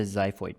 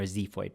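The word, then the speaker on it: xiphoid: manubrium the body and the zho process or Zeo process both of them are valid pronunciations in the body we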